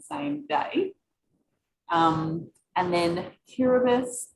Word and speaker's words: Kiribati: day um and then tiribus is pronounced with an s and any time you